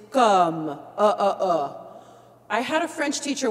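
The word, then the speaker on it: comme: When we say the word C-O-M-M-E, it's a hard one to pronounce because it's not com, it's not cam, it's come.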